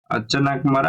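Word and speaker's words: Achanakmar: में जो biosphere reserve है उसका नाम है अचन कमरा अमर कंटक इसको स्पेलिंग देखिए प्रोशन वगर में गलत हो जाए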